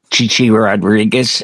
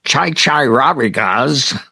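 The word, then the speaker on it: Chi Chi Rodriguez: Oh yeah, Les Nessman, and he, there was a very famous golfer, Chichi Rodriguez, and he goes, and Chai Rodriguez.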